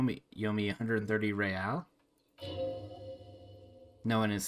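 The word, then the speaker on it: réal: of that word he pronounces the r with a mock aristocratic accent the iir or in interisolary intersolarly real is the global reserve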